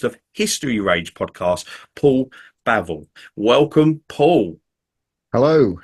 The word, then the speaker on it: Bavill: is the host of History rage podcast Paul bavel welcome Paul hello how are you doing good